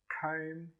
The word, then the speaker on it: comb: All of them have a silent B, but the pronunciation of the vowel is a little bit different. Bomb, comb, and tomb.